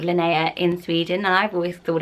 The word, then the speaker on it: Linnea: been for definite and that is the name Linnea there's a store isn't there for scanning when you're watching there's two Swedish called Linnea in Sweden I've always thought it was linear